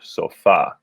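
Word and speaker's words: sofá: a little confusing because in english we say sofa of course but the stress falls on the second syllable instead in spanish so you hear sofa so if you remember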